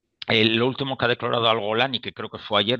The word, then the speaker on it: al-Golani: Sharia, y aunque su al-Golani, que curiosamente se pronuncia como la brigada Golani, como el Golán israelí judío, el líder al-Golani